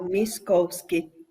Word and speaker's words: Miskowski: Sí, está bien pronunciado, Miskowski.